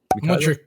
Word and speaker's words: Mudryk: Mudrick. Kylo. Say Mushrik.